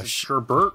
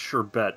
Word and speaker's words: sherbet: thing that happened in this stream so now Sherbert or sherbet uh sherbert okay interesting Sherbert like